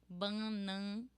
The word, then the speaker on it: bananeira: tongue down, and then feel this ban ban bananeira. Then you have a like eight. When you say like eight, it's exactly the sound eight. Bananeira, bananei, and then this R, ra. It's not like ra. It's not like ra. It's ra. Only one roll of your tongue.